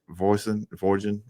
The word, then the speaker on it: Voisin: you still have Devin Voisin. I'm probably messed up his name. Rhymes with poison. That's the best way to remember it.